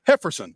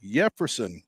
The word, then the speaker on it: Yefferson: and he's excited about Jefferson quer I'm sorry hefferson Carol Carol hefferson with an H yeah oh yeah Jefferson